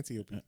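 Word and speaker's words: Antiope: anop antiopi antiopi yeah antiopi there you go antiopi antiopi sorry Greek Greek the way you got to do the Greek pronunciation yes yes so antiopi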